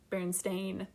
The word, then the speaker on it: Berenstain: they pronounce it, and in the show it's pronounced Berenstain, and it's spelled that way.